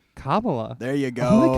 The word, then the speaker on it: Kamala: Every now and then I'm like, yeah, I'll vote Kamala Harris because You got this. Ka. Yeah. Ma. Yep. La. Put it together. Kamala.